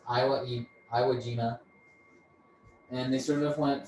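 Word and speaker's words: Iwo Jima: Midway then they came back to I it's pronounced Iowa Iowa gima and they sort of went through all these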